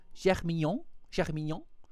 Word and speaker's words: Germignon: No, Germignon. It's like Germiné, which is like Germiné, whatever, and then Mignon, which means cute.